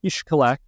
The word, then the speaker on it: Xcalak: influences from the language down there anyhow it's pronounced ishak Mexico and it used to be kind of